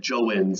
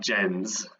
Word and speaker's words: Jens: I said Joens in the video, but it's Mike Jens.